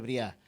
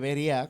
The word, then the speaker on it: Briá: El mundo de la creación es el mundo de Briá. El mundo de Briá, o de Beria, como le dicen a alguna gente, como lo pronuncian en algunas partes, el mundo de Briá,